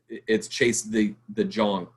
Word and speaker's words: Chase De Jong: And so you're not going to see freaking Chase De Jong, or however you pronounce his name, which in Dutch, it's Chase De Jong. That's what his name is.